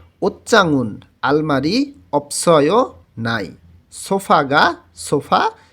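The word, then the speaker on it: 옷장: এরপরে থারা বলতেছে ওচ্চাংদো, এখানে ওচ্চাং উচ্চারণ হবে, জিউত চয়ের মতন উচ্চারণ হবে।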